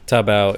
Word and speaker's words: Taobao: So Taobao, am I pronouncing it right? Yeah. Taobao is like a website that it's a bit